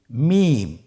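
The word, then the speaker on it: ميم: মিম। মিম হরফটি উচ্চারণের ক্ষেত্রে অবশ্যই বারিক হবে, পাতলা হবে এবং তিন আলিফ টেনে উচ্চারণ করতে হবে।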